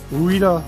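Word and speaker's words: Ruida: got a color display ruda controller that's how you pronounce it okay what i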